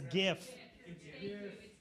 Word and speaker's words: GIF: We can all agree on how you pronounce the animated, GIF. It's GIF.